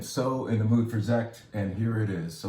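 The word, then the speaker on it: Sekt: i am talking about german sparkling wine called zet it's spelled with an s which is weird isn't it but that's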